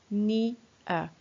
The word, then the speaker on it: near: le nouveau mot Mia qui se prononce ni à et qui s'écrit n